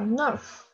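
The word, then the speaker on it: neuf: 发音的，然后这个 nerf 这个 f 要发音啊 nerf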